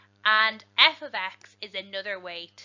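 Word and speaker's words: f(x): saying that correctly because it is not f by x it is not multiplication it is something very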